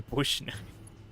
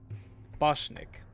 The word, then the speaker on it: Boschnik: I'm talking to Bushneck. I'm talking to Bushneck? Oh shoot, I already forgot how to pronounce. What was the pronunciation? Boschnik. Bosch. It's Bosch. Boschnik, yeah, okay.